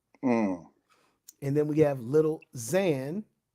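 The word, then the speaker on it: Lil Xan: and then we have little Zan when it's with an X y'all it's pronounced with a z so it's little Zan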